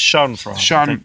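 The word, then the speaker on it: Schadenfreude: fra that's it s sh FR when when you sure that's entirely right pronunciation but such or the the phonetical pronunciation of it the very least is sat Shan yeah it's Shan Shan it's German it's a German word that pretty much means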